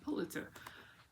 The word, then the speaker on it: Pulitzer: How do you say Perulitzer? Pulitzer.